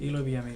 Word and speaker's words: Eloy Villamil: Eloy Villamil, yeah. Did I pronounce that?